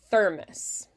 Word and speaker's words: thermos: thermos thermos thermos ther you'll want to Accent on the first syllable there thermos got it yes searched